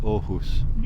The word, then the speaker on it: Aarhus: I'm in now is ohus uh it's written arus but it's pronounced ohus and that's the second